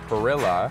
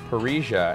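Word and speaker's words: parrilla: from nacho that the perilla I saw advertised on the way in is actually pronounced parrisha and it's a classic Argentine grill so this is it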